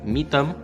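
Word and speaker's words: Mỹ Tâm: the queen of vop called meet them or is that how I say it yeah that's how you say it and yeah Vietnamese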